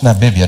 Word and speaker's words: Namibia: It's pronounced Namibia, not the way Mr. President pronounced it the other day.